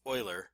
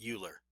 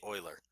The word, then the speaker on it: Euler: that it is pronounced Euler not Euler because it is a very important mathematicians name I expect you to pronounce it as correctly as is possible in English and say oiler relatively speaking in the